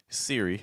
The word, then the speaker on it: Siri: And then for Siri, like on Apple, that uses an R sound.